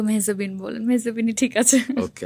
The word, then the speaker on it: মেহজাবীন: Well, like সবাই তো মেহজাবিন বলে, তো এটার উচ্চারণটা আসলে একদমই অন্যরকম। ইটস মেহজাবি। মেহজাবি। হ্যাঁ, এন বা ন আচ্ছা, এটা কিন্তু সাইলেন্ট।